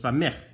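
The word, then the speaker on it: samekh: it i put hack you make a hacking sound on the bottom of that h so it's samick and look how you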